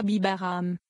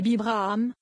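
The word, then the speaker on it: בהבראם: Ne prononcez pas Bibaram, mais Bibraham, lit.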